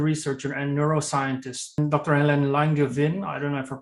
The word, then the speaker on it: Langevin: Helen Langevin. I don't know if I pronounced that correctly. Yes, Langevin.